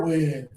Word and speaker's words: win: Low tongue, extra air. Win.